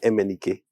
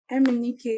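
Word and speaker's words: MNEK: him and guess what it was it was m andk m andk yeah he just made that's what I thought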